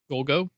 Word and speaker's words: Golgo: Golgo?